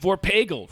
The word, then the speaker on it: Vorpagel: When they gave me the name, they were like, it rhymes with bagel.